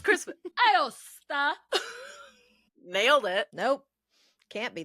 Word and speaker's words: Aosta: Aosta.